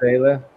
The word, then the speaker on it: vuvuzela: Vuvuzela. Okay, Vuvuzela. Vuvuzela. Okay, that's how you pronounce it.